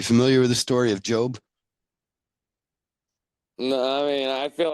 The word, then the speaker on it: Job: most loyal subject job which is actually spelled j-o-b for job but we pronounce it job no idea they don't put